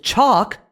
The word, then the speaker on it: chalk: The tall man draws with chalk on the wall. Chalk is another sneaky word where the L is silent.